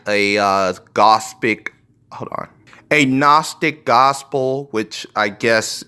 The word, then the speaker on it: Gnostic: read like a a Gnostic gospel, which I guess it's a word that has a silent letter because it's pronunciated without the G, but whatever, a Gnostic